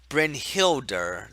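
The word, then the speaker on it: Brynhildr: damage and then Vanna has resurrect of course brynhilda that's how you pronounce it okay thank you you're the monk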